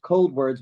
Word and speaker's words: Coldwards: Facebook do first of all the band is pronounced cold wordss but it's spelled c o d w r